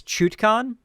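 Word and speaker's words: Chutkan: can't speak right now it's chutcon chutcon chuchcon it's chutcon okay a pellet it's pronounced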